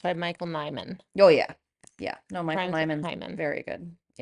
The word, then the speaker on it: Nyman: I came across it some other way, but it's by Michael Nyman. Oh, yeah. Yeah. No, Michael Rhymes with Nyman's Hyman.